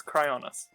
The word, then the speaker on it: Cryonis: since i said it right how do you pronounce it correctly cryoneces cryoness no it's not cryonesis it's cryoness i want to say chronesis yeah um i